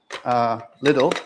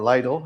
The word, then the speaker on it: Lidl: Oh, also, my local Lidl, or Lidl, however you want to pronounce it, they're doing one of